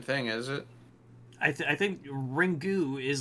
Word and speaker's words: Ringu: yeah it is but the Japanese pronunciation is ringu and then we just call it ring oh I see you're